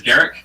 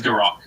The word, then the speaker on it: Garrick: The human pronunciation is Garrick, orc pronunciation is Garrock.